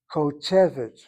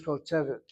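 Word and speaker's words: כּוֹתֶבֶת: Short vowel should be part of a closed syllable. It is not. If it is not, it's irregular and draws the accent. And so the emphasis should be over the segol. The last syllable is CVC. That's why you have it as kotevet, not kotevet.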